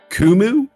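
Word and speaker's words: Qumu: go uh ticker symbol q u muu i believe that's pronounced kumu Shar spiking here up 6.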